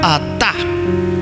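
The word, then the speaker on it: עטה: Lo digo porque hay otra palabra que se pronuncia igual, atá, y se usa como pronombre personal tú. Como cuando se va a hablar de usted, en el hebreo se dice atá. ¿Listo? Entonces no se vaya a confundir con ese atá, porque el otro atá se escribe con otras 2 consonantes aquí. Se escribe con alef y se escribe con taf, 2 consonantes distintas pero suenan igual.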